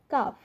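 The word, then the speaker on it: calf: আবার এফ এর আগে যদি এল থাকে সেক্ষেত্রে আমরা দেখতে পাচ্ছি সঠিক উচ্চারণ হবে দেখুন হাফ, এটার ক্ষেত্রে হবে কাফ।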